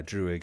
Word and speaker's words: Druig: Did I pronounce it right? Hold on, let me just double check. Double check. Druig. Yeah, Druig.